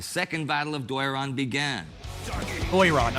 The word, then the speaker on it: Doiran: Doyran, okay, that's how you say it.